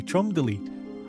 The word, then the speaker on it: Cholmondeley: Most importantly, Bruno explains that everyone's been saying Cholmondeley's name wrong. It's actually Cholmondeley.